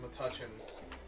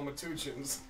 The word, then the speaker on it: Metuchen: of like supermarkets but they didn't know how to pronounce it that was all metuchins when you go to Philly if you say anything about this area it's Metuchen and Duneland Dunnellon what